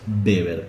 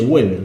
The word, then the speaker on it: Weber: a tener a Max beber que no se dice Weber se dice beber alemán que va a